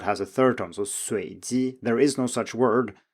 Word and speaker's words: 随机: So for example, we have the word 随机 here, which means random, but both students failed to rise on the first tone and said something like 随机, which sounds more like a low tone.